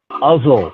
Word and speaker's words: Uzzel: Today's speaker is Brother Uzzel, rhymes with puzzle or muzzle.